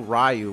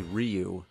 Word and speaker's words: Ryu: like in Street Fighter we didn't know rayu was actually Ryu Blanca some people say